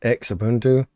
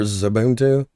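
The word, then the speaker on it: Xubuntu: to look at xfce this is x ubuntu or zubuntu depending on how you prefer to pronounce it you have your controls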